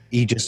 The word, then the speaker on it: Aegis: Aegis destroyers, Aegis destroyers, Aegeus. I think Aegeus is wrong. If you're saying Aegeus, you're just wrong.